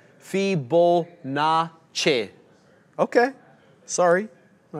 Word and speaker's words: Fibonacci: John, as a resident Italian, you'll need to pronounce it Fibonacci.